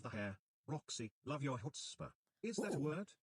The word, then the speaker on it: chutzpah: Roxy, love your chutzpah. Is that a word? It is, and the TTS said it right. Chutzpah. It's like Jewish for balls or guts.